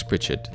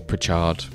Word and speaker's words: Pritchard: Introducing signing number 1 on loan from Tottenham, Alex Pritchard. Or Pritchard, depending on how pedantic you want to be about your pronunciation.